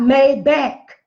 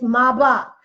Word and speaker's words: Maybach: Maybach had just come out it is not made back black folks stop saying that that's it and that's mispronunciation it's my block go over there and the people to tell